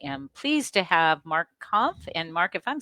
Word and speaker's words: Kampf: I'm Janice Hermsen, and I am pleased to have Mark Kampf. And Mark, if I'm saying your name wrong, please correct me.